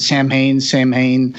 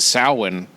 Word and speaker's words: Samhain: But then in this final version, the bad guy pronounces it Samhain. Yeah. I was going to say something about that. I think that might be an Irish pronunciation.